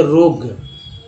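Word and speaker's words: rogue: उसके रोग, यू का उच्चारण यहाँ भी साइलेंट हो गया तो हो गया रोग।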